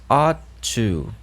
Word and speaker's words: ought: esse modal composto chamado a to a to percebe a importância de alongar tá a to lembra que quando a gente tem GH a gente não pronuncia o GH só lembrar do Number